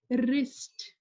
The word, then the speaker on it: wrist: like this word right wrist same rule applies here whenever W comes before are you read with the word with are not with W here W silent no sound of W will come out from our lips we